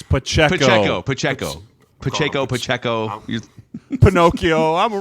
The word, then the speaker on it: Pacheco: Throw it to Pachenko. It's Pacheco.